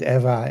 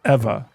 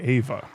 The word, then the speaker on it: Eva: Yeah, cuz I noticed you spe- you said Eva. Cuz I was specifically told to say Ava. Is that incorrect? I mean, if the difference between Eva and Ava Yeah. is that I mean, Japanese doesn't do Ava.